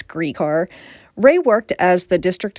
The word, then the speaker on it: Gricar: ray griecar you know i've been pronouncing his name wrong for years i always thought it was grycar but it's greek r ray worked as the district attorney in center